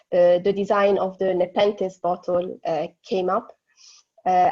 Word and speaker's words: Nepenthes: bottle and that's how the design of the nepenthes bottle uh came up uh actually so um marcus it's it's pronounced in the pentas but it's okay and this is the actual